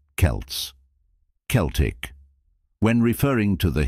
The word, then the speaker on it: Celts: pronounce these terms Celts historically and academically it's often pronounced with a hard C Sound Celts Celtic when referring to